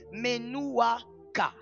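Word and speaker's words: menuwchah: à cause du péché, c'est le repos appelé Menouaka. Menouaka, c'est le repos que l'on subit aujourd'hui à cause du péché. Ça s'écrit M E N U W C H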